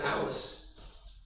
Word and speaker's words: Ellis: And he had a son, Ellis. He pronounced it Alice, Scottish bro.